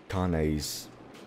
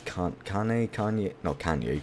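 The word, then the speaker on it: Kainé: Oh, and I think I pronounced Kane's name wrong as well. I kept calling it Kane. It's Kanye. It's not fucking Kanye West.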